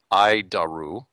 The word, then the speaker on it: ADIRU: data initial reference unit we pronounce it i daru hi daru oof it's horrible name